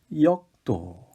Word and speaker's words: 역도: 력도가 아니라 역기를 들어오르는 역도.